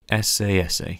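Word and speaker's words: Esse Esse: Or as it should be pronounced, SASA.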